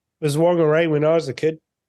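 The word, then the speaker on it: Whangārei: Now it's not whangarei, it's whangarei, and that changes every 5 years, it seems.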